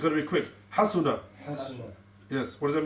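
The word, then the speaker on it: حَسُنَ: So the way to pronounce it is quick. Fahima. Fahima. That's correct. Next one. Hasuna. Again, it's got to be quick. Hasuna.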